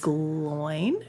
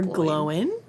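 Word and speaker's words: Glóin: have gimle the dwarf son of Glo or gloen depending on how you want to pronounce it depending I always say glowing but yeah I always say glowing too but I feel like I've heard it both ways yeah uh glowing was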